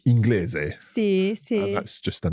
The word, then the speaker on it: inglese: in other words like inglese. Sì. And that's just a normal gl. Esatto, sì. If there is no letter I, then it's pronounced as a hard sound. So inglese.